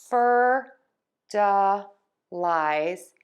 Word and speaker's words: fertilize: And we have fer-duh-lize and ee-kwuh-lize. So we're still going to have the stress on syllable one.